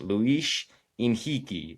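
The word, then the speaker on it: Luis Henrique: The H at the beginning is silent and then in the middle of the word R in Brazilian actually makes the H the H sound.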